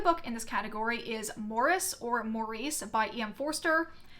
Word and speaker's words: Maurice: it's supposed to be Morris but my like American brain wants to say it as Maurice since that I feel like it's the more common pronunciation of that name in America regardless this is a